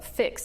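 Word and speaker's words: PHIX: you are the executive director of fix and that's spelled p IX Physicians health information exchange and that's what we're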